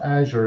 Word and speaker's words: Azure: aure um some people the way you pronounce the Paul there is azure the Amer the americ it's h we we asked a few kind of experts in Microsoft and they call it Azure so AA yeah so